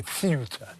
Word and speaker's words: Ceuta: To a guy called Testy on Tyneside, who says that Ceuta should be pronounced in that Spanish way, Ceuta, you know, Español and all that.